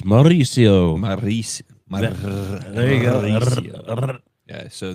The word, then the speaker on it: Mauricio: You got to roll your R's. Mauricio.